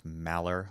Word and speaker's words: Maller: That's Malor, like Malard the duck, as Aaron says it without the D.